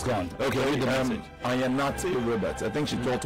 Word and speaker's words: Ayanate: My name is pronounced Ayanate.